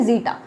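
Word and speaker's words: zeta: इसे हम किससे प्रोनाउंसिएशन इसका क्या है? जीटा।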